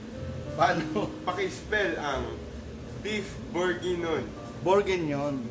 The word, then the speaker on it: bourguignon: Bourguignon. Bourguignon. Ganun siya pronounce. Bourguignon.